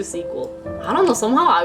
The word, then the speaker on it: SQL: want me to pronounce sql is not sql actually this time i remembered today i have memory memory sequel yeah yeah let's do sequel i don't know somehow